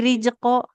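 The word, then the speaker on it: رِزْقًا: kalau zainya sebenarnya ketika berharokat Ibu sudah bisa, tapi ketika sukun jadi jim, jadi rizqo. Nah, rizqo ujung lidahnya ke ujung gigi seri yang bawah.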